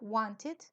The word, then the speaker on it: wanted: se destaca es que cuando los verbos terminan en t o en D como el verbo want o it want querer need necesitar Entonces siempre se pronuncia it it es entre I y e no es I ni e it Entonces sería Wanted ellos hay veces se